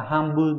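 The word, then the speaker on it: 半分: Chữ bán đọc là han không phải là hôn, loại 3 4. Còn phun và bun thì trong riêng trong từ một nửa ấy sẽ là hanbun, nó án số 2.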